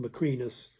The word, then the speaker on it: Macrinus: you can see were Caracalla, Geta, it's usually pronounced Macrinus, Alegolus, and Severus Severus Alexander, or usually Alexander Severus.